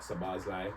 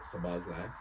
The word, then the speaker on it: Szoboszlai: Hungary, they got Szoboszlai. That's how you pronounce it, by the way, Teddy. I know you. Before you butcher it, it's Dominic Szoboszlai, the captain of Hungary.